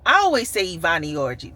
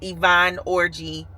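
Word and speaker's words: Yvonne Orji: I always say Ivani Orgy, but that's not how you pronounce the name. Her name is Yvonne Orgy from Insecure.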